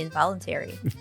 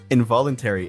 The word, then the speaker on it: involuntary: What does it mean, involuntary? Involuntary. And I think the way he says involuntary, but that's not how you should say it, right? The actual pronunciation is involuntary.